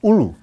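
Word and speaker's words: Oulu: so let's talk about uh what's next where pronounce the name of the place in Finland for me please ulu ULU okay so ULU is a very nice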